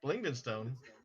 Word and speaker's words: Blingdenstone: Blingdenstone. That's what it looks like. That's what it's pronounced.